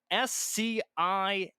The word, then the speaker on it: sciatic: SCIATIC.